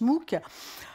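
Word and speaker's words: MOOC: alors que c'est à c'est un sigle enfin c'est un acronyme puisque on le prononce mook on aurait pu imposer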